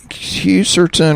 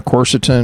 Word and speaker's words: quercetin: Uh, quercetin or quercitin, however you want to pronounce it. Uh, curcetin, that's another way.